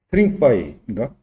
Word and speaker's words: stringify: stringify인가? G가 묵음 아니네. stringify G 묵음 아니에요. G도 소리를 내야 돼.